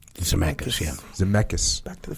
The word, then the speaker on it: Zemeckis: Zemeckis? Zemeckis, yeah.